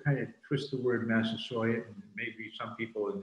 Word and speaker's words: Massasoit: do it we say massive sawyer because that's how uh bradford wrote it he he wrote it with a y which would indicate that that was quite how he pronounced it as well so in